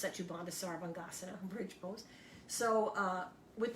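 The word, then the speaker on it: Setu Bandha Sarvangasana: is a great pose in sanskrit it's uh pronounced sachibanda sarvangasana bridge pose so uh with the knees bent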